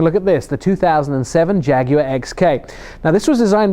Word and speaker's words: Jaguar: actually say it right it's jaguar and for those of you that don't know it is a three syllable word and I guess that's